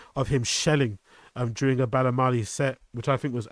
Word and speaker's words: BALAMII: And he was also featured on a BALAMII set, on a BALAMII, not BALAMII, BALAMII, right? That's how you pronounce it.